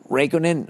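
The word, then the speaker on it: Räikkönen: the first non-english non-german driver since kimmy uh raikkonen is how you say his name it's only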